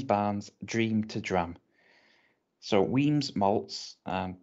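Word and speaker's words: Wemyss: dream to drum so weems malts um w-e-m-y-s-s but i believe it's pronounced weems malts uh a small but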